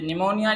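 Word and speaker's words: pneumonia: अच्छा ये निमोनिया जो है, वर्ड हमारे पास ये है निमोनिया है, ये हमारे इसमें देखें पी साइलेंट है।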